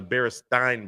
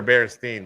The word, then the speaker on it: Berenstain: thought all right so do you remember the baresting Bears or the Berenstein Bears or bear stain bears I oh well I mean I guess what's the way you pronunciate it or enunciate it is there an A in it I don't know I I can't remember now I remember Berenstain Bears apparently it's not yeah they're staying bears one other thing in